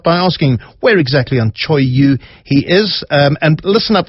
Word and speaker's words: Cho Oyu: he had a bunch of clients who climbed Cho Oyu. Now, I had to ask him how to pronounce this. It's Cho-Oyu, Cho Oyu, the 6th highest peak in the world.